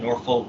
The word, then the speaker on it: Norfolk: Took place at the venue, the Norfolk Scope in Norfolk, Virginia. That's how you freaking pronounce it.